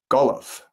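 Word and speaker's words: Golam: elsewhere, it says that his real name was Golov. Golov is spelled multiple different ways, including G- A L A M and also G O L A M.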